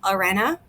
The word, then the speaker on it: harena: at the beginning well when an H is at the beginning of a word and is followed by a vowel you actually don't pronounce the h so the pronunciation would be Arena which gives us I